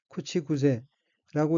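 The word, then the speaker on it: 口癖: 다음 어휘는 한자가 한국어로 구벽이고 각기 입구자와 버릇벽자이고 일본어로는 쿠치구세라고 읽으며 쿠치구세는 입버릇이 된 말, 상투어란 뜻입니다.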